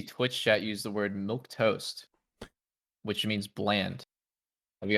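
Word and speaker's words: milquetoast: because I was literally thinking Milk milk toast. space toast. It's pronounced milk Space toast.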